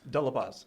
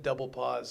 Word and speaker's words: De La Paz: De La Paz. Oh, they said double pause. No. Double pause.